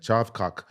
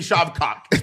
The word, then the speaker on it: Shavkat: He kind of stabilized everything by doing that calf kick, and Shavkat was too kind of like hesitant to come in.